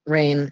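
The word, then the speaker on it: Rahne: I've just been pronouncing it rain because that's the way it's pronounced in the film.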